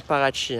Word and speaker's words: Paraty: ouais et donc là on est à Parati qui se prononce vraiment parachi hein comme comme AINS dès